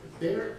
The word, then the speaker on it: Baer: Next resolution is to appoint Jeff Baer, am I pronouncing that right? Jeff Byer. Oh, Baer, there you are.